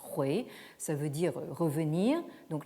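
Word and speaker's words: 回: Là aussi, la prononciation moderne importe peu, ça se prononce hui, ça veut dire revenir.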